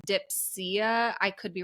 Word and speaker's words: Dipsea: One is called Quinn, Quinn, and one is called, I think it's pronounced Dipsea. I could be wrong. It's Dipsea.